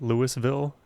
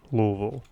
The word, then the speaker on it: Louisville: I used to call it Louisville and Louisville, but when I actually finally met somebody from Louisville, that's exactly how they pronounced it, Louisville.